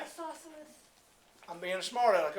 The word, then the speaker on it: isosceles: Isosceles. Nope, say it right. Isosceles. I'm being a smart aleck, aren't I? Isosceles. Yeah. But us Texans, for some reason, we say that's isosceles.